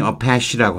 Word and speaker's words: Apache: 이게 아파치라고 하는 건데 발음이 어패시라고 한대요.